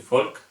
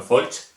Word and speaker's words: Folch: La CH, volvemos a lo mismo, no se pronuncia la H, sería como mi apellido, yo soy Folk, no Folch, pues aquí lo mismo, la H no se pronuncia y se pronuncia como una K.